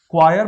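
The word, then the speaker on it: choir: क्वायर pronunciation है इसका, इसका मतलब मंडली होती है।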